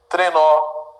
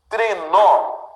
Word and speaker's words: trenó: Trenó. Também. Parabéns. O que eu tenho, pessoal? Sílaba tônica dessas palavras que eu acabei de dividir, né, é sempre a última.